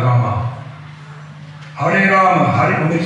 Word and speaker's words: Rama: You're leaving all the, you're chanting Ram, not Rama.